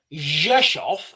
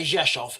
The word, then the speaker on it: Rzeszów: This town here, Rzeszów, as it's pronounced in Polish, that town there, Rzeszów, is the it's the closest town to.